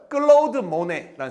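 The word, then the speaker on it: Claude Monet: 클로우드모네라는 에이. 클라우드가 아니에요. 명어 발음이 아니니까. 클로우드모네.이 이 여섯 명의 화가가 나올 거다.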